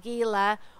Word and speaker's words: Gila: Everybody always gets caught up on one of the streets called Gila, and they call it Gila.